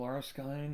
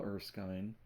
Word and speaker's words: Erskine: Pearl Arsine and I said his name wrong. Carl Erskine and Harvey Hadex are still on the mound in a two- two game.